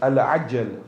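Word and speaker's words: al-ʿajjal: one thing here, that the word is Al-Ajjal with a Ain. Often we of the Indo-Pak subcontinent will say Al-Ajjal, because we're getting, we get a bit lazy, we don't want to pronounce the Ain. See, when we say Al-Ajjal, it means come quickly, hasten the reappearance. Al-Ajjal with an alif means slow it down. Huh?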